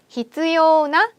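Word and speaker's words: 必要な: 필요하는 일본어로 히츠요나 라고 외우시면 되겠습니다. 그래서 나 형용사구나 라고 해서 한번 발음하시고 외우시면 돼요.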